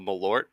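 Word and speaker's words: Malört: yourself a bottle of malort um you will be very angry with me sounds sounds like it tastes like Jagger Meister but grosser shockingly good guess the name the name rhymes with wart and it's a it's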